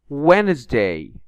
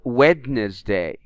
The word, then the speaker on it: Wednesday: the Bean is in Red so we don't pronounce it climb we don't say climb muscle not muscle Wednesday not wedes day make not Makey calm not calm half penny